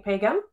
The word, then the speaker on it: Pejgan: how to pronounce it would you like to pronounce it for us yeah um so my name is a nickname pagan nice well for anyone who doesn't know who